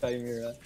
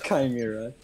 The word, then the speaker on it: chimera: with it no it's it's pronounced chimera i just looked it up you're pronouncing it's chimera that's what i called